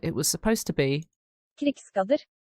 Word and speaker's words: Krigsgaldr: I actually found a way to pronounce it, and I've already butchered it. It was supposed to be Krigsgaldr. Krigsgaldr.